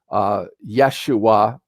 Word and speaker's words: Yeshua: deity worldwide Brahma Jehovah Yeshua that's actually the Hebrew pronunciation of the name of Jesus all have that off